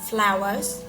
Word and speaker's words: flour: Cái này hơi tricky, các bạn đọc là như bông hoa vậy đó. Flowers. Here is flour. Here, number 5 here, flowers là bột mì ở đây các bạn.